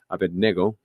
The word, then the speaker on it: Abednego: Shad Shadrach M and abedo Abednego I think that's how we supposed to say it righto is that right yeah because in in